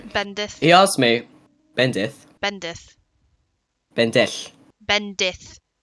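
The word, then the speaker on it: bendith: don't know actually bendi he asked me bendi bendi bendi bendi b e n d i t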